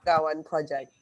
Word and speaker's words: BWN Project: the founder of the Big, how do I pronounce this, Fisha? BWN Project, hold on. I'm going to unmute you right now. BWN Project.